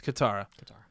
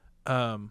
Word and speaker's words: Katara: The duper mispronounced everyone Kitara. Else's name. Yeah. Yeah, it's Katara. Katara.